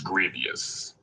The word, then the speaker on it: Grevioux: Is it Grevioux or Grevioux? Actually, it's Grevioux. Grevioux. Yeah, Grevioux rhymes with previous.